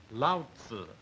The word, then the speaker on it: Lao: of the supposed founder himself here it is Lau is the way it is pronounced literally Lao means old and means uh